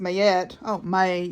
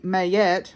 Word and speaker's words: Ma'at: Ma'at, pronounced Mayet, Mayet, okay, is an ancient Egyptian deity associated with truth, harmony, and balance.